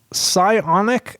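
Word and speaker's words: Psionic: um my favorite guy pionic audio is I think how you say it it's PS IO n i audio and the guy's name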